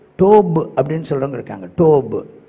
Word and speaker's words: Tov: அது வந்து என்னென்னா டிஓபிஇ, டோப், டோப் அப்படின்னு சொல்கிறவங்க இருக்காங்க. டோப், இந்த வி சவுண்ட் இருக்குது பார்த்தீங்கன்னா, டவுன்னு சொல்கிறது இல்லை, இதையும் டோப் அப்படின்னு தான் சொல்கிறது.